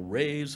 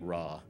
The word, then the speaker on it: Ra: And the circle is the great consciousness of Ra, and we are all rays of the great Ra. They used to pronounce it Ray, but we all pronounce it Ra.